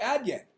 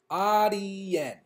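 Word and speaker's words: Adyen: have a first update it's not pronounced ad yet I had no clue ah DN Adi Yin okay that's how you're that's how we're supposed to pronounce it that is the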